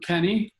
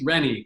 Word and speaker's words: Rennie: his name is Kenny so it's Rennie with an r re and nie Gabriel he went from